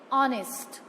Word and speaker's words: honest: So here H is silent. And the pronunciation of this word is honest.